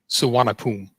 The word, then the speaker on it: Suvarnabhumi: I don't know how you pronounce it. And I get picked on a lot for that. Suvarnabhumi.